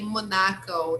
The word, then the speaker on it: Monaco: using uh the word instead of saying monaco which is american english they will say monaco it's also common right so some people have this pronunciation especially people from the area right so let's read